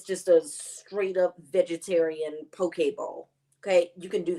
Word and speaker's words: poke: it's it looks like poke but it's pronounced poke like okay okay p-o-k-e uh poke